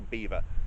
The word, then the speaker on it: Belvoir: So that's why it's called the veil of beaver because English people couldn't pronounce Belvoir.